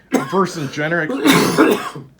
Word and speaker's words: Vercingetorix: When the card says Vexrit, how do you pronounce it? Vercingetorix.